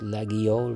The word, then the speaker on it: Laguiole: the French people saying, oh, it's pronounced Laguiole with a G, and the other half says, no, it's silent G, blah, blah, blah.